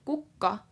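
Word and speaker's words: kukka: the coca mercy school so cuca with 1k is who and Bucca with two K's is flower now the difference between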